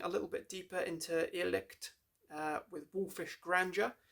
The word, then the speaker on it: Irrlicht: I'm not actually sure exactly how you pronounce this band's name, but I think it's Irrlicht. Not really sure. IRRLYCHT. Irrlicht. Yeah, that sounds about right.